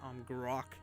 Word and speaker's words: Amgarrak: But yeah, that is the end of the Golems of Amgarrak, that's how you pronounce it, Amgarrak.